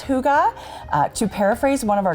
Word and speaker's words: hygge: long cold winter this is the concept of hygge hyg GE but you pronounce it who got a CH oo GH